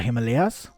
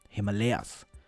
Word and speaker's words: Himalaya: from my own language like himalay is what i would call it if i were speaking hindi in english i'm never quite sure if i should just pronounce it as i would in my native tongue since it's a name i've been speaking for almost my entire life or should i pronounce it like a native english speaker would himalayas avatar is another such